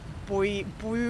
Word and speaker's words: buoy: Buoy bees. Buoy bees is very funny. Buoy bees works better with the American pronunciation because otherwise it's boy bees.